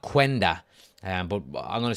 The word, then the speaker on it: Quenda: I think it's pronounced Kenda. Okay, not Quenda.